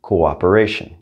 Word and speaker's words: cooperation: example of this is cooperation even in english we're saying go operation we're pronouncing each one of those o's since it sounded out